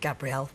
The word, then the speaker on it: Gabrielle: It is spelled Gabrielle, but I've always been called Gabriel, among other things.